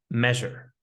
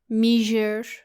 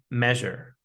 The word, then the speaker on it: measure: Now, we have a word that is very commonly mispronounced, and the word is measure. I hear a lot of students say Measure. it should be measure, measure.